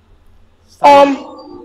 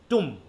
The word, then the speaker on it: tomb: টুম। উচ্চারণ হচ্ছে কি? আমরা বলি টম, কিন্তু উচ্চারণ হচ্ছে কি? টুম। টম। ব কিন্তু নাই হয়ে গেছে, ঠিক আছে তো? ব কিন্তু হারিয়ে গেছে।